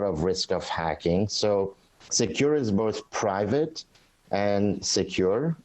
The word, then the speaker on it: Sekur: Well, Secure, which is spelled SEKUR, is our email and messaging application.